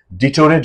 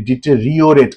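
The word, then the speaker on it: deteriorate: উচ্চারণ করে আমি বারবার ক্লাস নিতে গিয়ে বলি ডিটোরেট বলে একচুয়ালি ডিটেরিওরেট আর আই ওটা উচ্চারণ করে না লোকে ডিটেরিওরেট ডিটেরিওরেশন মানে হচ্ছে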